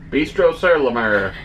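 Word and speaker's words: Bistro Sur la Mer: a reservation for bistro i always feel like such a jerk when i say it like that and dan always laughs at me but that's how you say it properly bistro sarlamer so it is the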